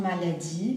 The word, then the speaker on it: maladie: Bien, la pronunciación maladie, mais la E final no la pronuncio.